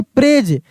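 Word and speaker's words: praise: टी एच को द ठीक ना फॉल्स प्रेज प्रेस नहीं प्रेज ये एस एस ई को ज के रूप में पढ़ेंगे।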